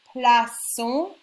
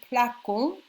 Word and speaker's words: plaçons: Je place, tu places, il place, nous plaçons. If you didn't have the CD, it would be nous plaquons.